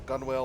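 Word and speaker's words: gunwale: Corporal Crossley shouts as he slips on the as he slips on the gun whale of the loading boat. Sorry. I think that's actually pronounced gunnel, but I could be wrong.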